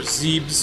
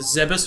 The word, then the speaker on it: Zebes: Okay, so if we're going by Japanese pronunciation, it would because they're very phonetic about their language, so it would be Zebe, so Zebes.